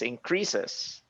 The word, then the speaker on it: increases: You say increase. It's increases.